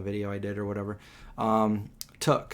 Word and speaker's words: Took: Took is pronounced took, where I come from. Like Peregrine took. Mm-hmm. Like took you.